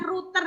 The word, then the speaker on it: router: Nah, bacanya router ya. Ini kan tulisannya ROUTER, router. Nah, jadi router ini yang sebagai Pak Posnya, teman-teman.